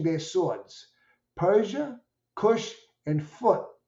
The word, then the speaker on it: Put: of them brandishing their swords Persia Kush and foot p p t but pronounced p u t will be with them